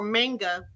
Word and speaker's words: manga: just to believe know about manga manga I've been saying it wrong it's Manga and Anime day so